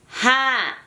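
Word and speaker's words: ห้า: Did you guys hear that? Ha. 5 in Thai is ha.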